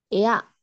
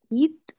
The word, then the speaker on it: eat: Ea. Se escribe ea, pero no se pronuncia ea. Et. Tampoco se pronuncia et, pero cerquita. It. Muy bien, it. Entonces, se escribe EAT y la pronunciación es it.